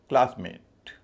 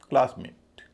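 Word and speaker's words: classmate: Rainbow इसी तरह क्लासमेट क्लास और मेट उच्चारण में कोई अंतर नहीं आ रहा। लेकिन जब बोलते समय क्लास पे जितना जोर है मेट पे उतना नहीं है। क्योंकि यह नाउन है। क्लासमेट सनशाइन सनशाइन सन और शाइन क्योंकि नाउन है।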